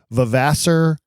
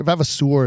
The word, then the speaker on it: Vavasour: pronounced neither do I I've heard I've heard it multiple ways I've heard vaser I've heard vavasour I've heard vavasour vavasour is probably more accurate cuz it's it it sounds almost French to me